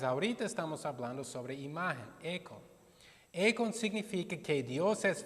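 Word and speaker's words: εἰκών: Econ es la palabra griego para imagen. Esto se pronuncia, se pronuncia econ.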